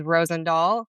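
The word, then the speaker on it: Rozendaal: Last name is Rosend Doll.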